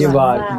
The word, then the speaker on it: llevar: Llevar is Yevar.